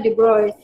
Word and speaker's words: de Broglie: Dia de Broglie kan, tapi Broglie tu sebutan yang kita rasa nak sebut lah, tapi sebutan dia yang sebenar de Broglie.